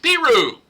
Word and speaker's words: Peru: The people who live there call it Peru.